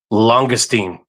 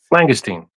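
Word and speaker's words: langoustine: Um longestine. No, I'm going to throw up. What? What is that? That's like a lobster. No, that you mean Langugustine. Langustine. Sorry, Langustine. I said it wrong.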